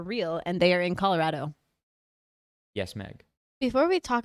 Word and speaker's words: Colorado: all it's we're all in agreement that she's Colorado. wrong, right? Okay, Colorado. Soft A. Colorado. Long A. Colorado.